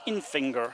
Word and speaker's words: Infinger: I believe it's pronounced Infinger, so it's like Infinger. Like a splinter in your finger.